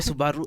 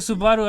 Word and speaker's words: Subaru: attire who cares and i hate people who say it's subaru it's not subaru it's it's a japanese car yeah the japanese don't have silent letters yeah yeah it's a subaru it's it's japanese oh i don't know